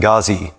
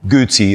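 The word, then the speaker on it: Guzzi: one here this 27 gazi or gucci as i'm told it's supposed to be pronounced is another one of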